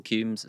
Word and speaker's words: Cumes: I am just, my name is really unique, Cumes, so I'm really Googleable. So Cumes is spelled Cumes. Yes, it's like comes. And what? Comes with an E.